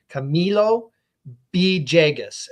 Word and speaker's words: Camilo Villegas: don't put enough emphasis on the me it's Camilo B jagus and that thejus right but I think I've